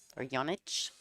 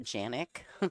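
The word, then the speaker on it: Janić: And so her family is Yannick, I believe is how you say it, Angela Yannick, or Janich. It's actually not Janik, but that's how Americans say it.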